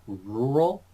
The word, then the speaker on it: rural: rural flight now this this words a little weird to pronounce rural it's kind of like if you if you practice with W like wool and then you go yeah be careful though be careful cuz it's not just like rule right cuz that